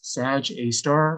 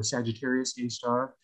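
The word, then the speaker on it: Sagittarius A*: there's an asterisk, and astronomers actually pronounce that asterisk as the word star. So you'll hear astronomers refer to this as Sag A star or Sagittarius A star, but it's the central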